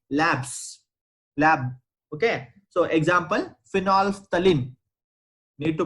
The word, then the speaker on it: phenolphthalein: are made in labs lab okay so example phenolphthalein need to pronounce this properly phenolphthalein one is methyl orange there are n number